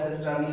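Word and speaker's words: cisternae: They are called sister for singular cisterna, and after E they are pronounced as cisterni, and it is for plural.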